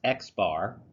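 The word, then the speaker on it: x̄: that in chapter one the sample arithmetic mean pronounced X bar X bar you have a a letter X with a bar on top X bar this is the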